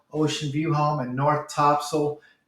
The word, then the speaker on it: Topsail: to you about North Topsail Oceanfront real estate for sale we call it Topsail like Siegel but really it's spelled top sale for all you northeasterners